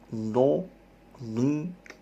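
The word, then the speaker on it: ض: Cara membacanya adalah salah satu sisi lidah atau keduanya menekan dinding gigi geraham sampai gigi taring. Jadi tempel ujung samping lidah ini ke geraham kalian, geraham di atas.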